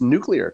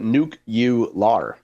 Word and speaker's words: nuclear: the show, you pronounce nuclear correctly. What did I say? Nuclear. How How do you pronounce it? You do not pronounce it nuke u.